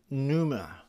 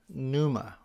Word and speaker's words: pneuma: is spirit and the the way the greeks pronounce the word is numa numa or pneumatos and pneuma of course